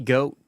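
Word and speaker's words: GHOAT: It's funny because goat is spelled G-H-O-A-T. It's goat.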